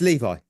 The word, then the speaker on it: Levi: I watched it it's Levi there you go like the jeans and then that took